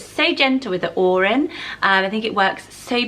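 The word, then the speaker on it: Odhran: veut I left the look of the name Oran so it is spelt OD h ra n and it's pronounced Oran it's a bit like Erin I guess is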